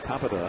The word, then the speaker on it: Tabata: T Tabata comes in you want to say Tabata they pronounce it Tabata it took me a while took me a while to get it too this single started the